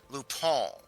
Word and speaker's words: Lupin: Well, allow me to very gently correct your pronunciation. That is Lupin.